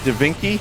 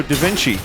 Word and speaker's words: Da Vinci: Dinky. No, Da Vinci.